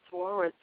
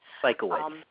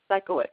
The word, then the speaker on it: Sikowitz: you and Reverend Thomas Swartz. I believe that's how you pronounce his last name. Sikowitz. Sikowitz, okay.